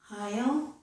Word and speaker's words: aisle: Lastly, S is sometimes silent, as in aisle and island.